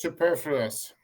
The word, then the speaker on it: superfluous: said superfluous.